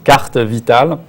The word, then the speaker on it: carte Vitale: The only thing I would have to correct is maybe the pronunciation. It's carte vitale.